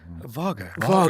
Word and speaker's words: Wago: You've gone to, how do you say it? Vago.